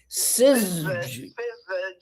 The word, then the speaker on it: syzygy: All words that have that sort of no vowel. Well, like synergy or something. I mean, that's the way they're accented. So I would just go that way.